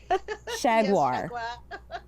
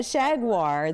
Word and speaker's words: Shaguar: 2023 with your book remind me how you say it shaguar sha shaguar The Night Huntress so remind